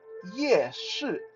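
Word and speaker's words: 夜市: in Mandarin is called yeah sure ah sound like you're saying yes right like yes or no like you're saying yes you just pronounce that s a little bit more audible like yeah sure yes that's Night Market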